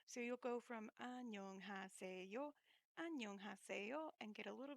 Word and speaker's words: 안녕하세요: There are 5 syllables in the word 안녕하세요, and it is the polite way to say hello. And you will learn to speak it slowly.